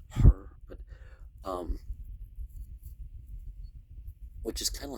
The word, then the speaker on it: Horus: I mean, you don't pronounce the S in ancient Egyptian, it's just her, but which is kind of like the persona, the image that's projected.